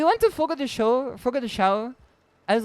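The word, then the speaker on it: Fogo de Chão: then I asked him how do I pronounce it in like Brazilian Portuguese and he said it's foggo the show and then I said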